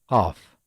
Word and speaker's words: ق: no counterpart in English let's explain how to pronounce it look at the left picture it shows the allocating of the tongue which touches the heart palette this is the calf